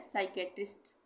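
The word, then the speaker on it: psychiatrist: इसके बाद है साइकेट्रिस्ट, साइकेट्रिस्ट, इसमें भी पी साइलेंट है, ठीक है।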